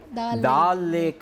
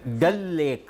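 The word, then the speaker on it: Dal Lake: ಶ್ರೀನಗರ ಅದರಲ್ಲಿ ಡಾಲ್ಕ್ ಅಂತ ಹೇಳ್ತಾರೆ ಆದರೆ ಅದರ ಸರಿಯಾದ ಉಚ್ಚಾರಣೆ ಡಲ್ ಲೇಕ್ ಅಂತ ಡಲ್ ಲೇಕ್ಅಲ್ಲಿ ಈ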